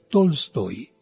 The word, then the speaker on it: Tolstoy: Es de un conocido escritor llamado León Tolstoy, o bien, como algunos pronuncian, Tolstoy.